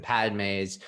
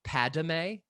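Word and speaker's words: Padmé: satine in this episode she pronounces it padme with the third syllable oh yeah similar to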